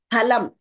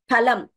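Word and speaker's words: फलम्: and please note this this letter is pronounced as P not as F we don't have that F pronunciation in Sanskrit which is there in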